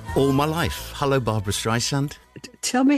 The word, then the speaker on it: Streisand: to say this all my life hello Barbara strand tell me how you pronounce my name strand strand that's right so nice so nice to